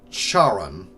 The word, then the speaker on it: Charon: how to pronounce it I'll call him Charon because that's how I prefer to pronounce it but I know a lot of people who pronounce it differently that's the name of